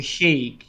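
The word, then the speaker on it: Hague: The HEG. The HEG. Can you tell me how an American would pronounce this? He don't know what. I don't have that sound in my American tongue. H A G U A. Okay. Heg. Heg.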